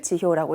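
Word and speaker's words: 辞表: 자, 지효 사표를 지효라고 읽어요.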